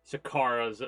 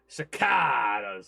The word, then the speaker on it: Sakaarrra: I myself am extremely excited to continue where we last left off in Sakaarra's, or I should say it properly, Sakaarrra's adventure in Oblivion.